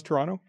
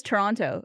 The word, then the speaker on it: Toronto: If someone says Toronto, obviously you're not. I would say Toronto. Toronto. Yeah. It sounds like you throw an extra syllable in there.